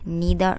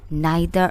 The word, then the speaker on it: neither: This neither nor or it can be pronounced as neither nor.